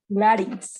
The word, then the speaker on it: larynx: Larynx. Okay. Larynx with an open A. Okay. So strange in the pronunciation.